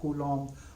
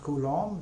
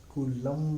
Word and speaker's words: Coulomb: micro Coulomb or eco coulombs or nano kuno and interestingly it's pronounced Coulomb with a silent B its Coulomb and not cool um or something like that